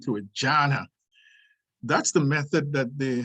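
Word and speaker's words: dhyana: that's n d-h-y-a-n-a and it's pronounced with a j sound to a jana that's the method that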